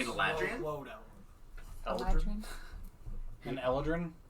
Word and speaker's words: Eladrin: Eladrin. An Eladrin? Eladrian? There is no extra I. It's Eladrin.